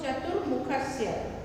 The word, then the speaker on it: चतुर्मुखस्य: चतुर्मुखस्य, ऊपर में रेप जो है वो र पढ़ते हैं उसको, चतुर्मुखस्य।